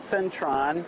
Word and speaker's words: Central: changai and it's called Centron to tie people if you hear Centron it actually is Central department store it's the high-end stores but they don't pronounce the L they pronounce it as an n and Tron you might